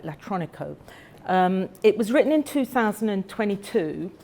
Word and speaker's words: Latronico: I've got to say it right, Latronico.